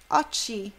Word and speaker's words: occhi: Occhi, occhi. Occhi, tem o H, então o som é duro.